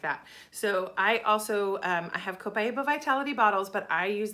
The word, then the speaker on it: copaiba: sorry if it's backwards this is copaiba I've heard people say copaiba I don't know if that's an accepted translation or a pronunciation or not I've always heard copaiba so that's how I pronounce it but this is an